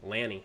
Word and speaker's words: Lanny: It's not Laney. Lanny. I said Lanny, not Laney.